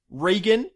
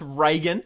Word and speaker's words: Regan: Sorry, first of all, Regan is how you pronounce his name, not Reagan.